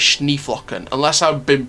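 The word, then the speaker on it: Schneeflöckchen: I found out it's Schneeflocken, unless I've been pronouncing it wrong my entire career.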